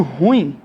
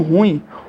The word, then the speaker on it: ruim: não frito e pouquinho a palavra ruim que causa muito erro também na nossa pronúncia é absolutamente normal nós encontramos pessoas que até com bom vocabulário né falando ruim pessoas que falam ruim ruim pessoal tá errado isso aqui não deve ser empregado a E aí é